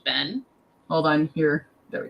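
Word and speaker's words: 弁: This one here by itself is pronounced Ben.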